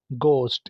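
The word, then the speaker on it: ghost: को कहा जाता है गोस्ट इसमें भी देखें एच साइलेंट है भूत को कहा जाता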